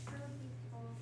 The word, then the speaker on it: tubercles: In essence, it's tubercles. How do you say it? Tubercles. Tubercles. I wanted to put an R there and it's not there.